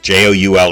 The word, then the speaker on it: joule: Joule is pronounced joule, and its abbreviation is a capital J.